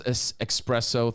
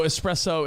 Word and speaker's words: espresso: berserk but is it like one of those expresso things no i mean that's always on the list i know espresso espresso espresso i get it no these are